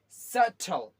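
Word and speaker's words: subtle: Okay, इसमें आपका, इस वर्ड में कौन सा आपका साइलेंट होगा, सटल, सटल, सटल।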